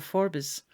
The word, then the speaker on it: Forbes: close neighbor was Alexander Forbes or Forbes in the local pronunciation fourth Lord pit Sligo